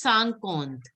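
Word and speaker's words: cinquante: In 50 is pronounced as sankont. IN is pronounced as an. So it is sankont.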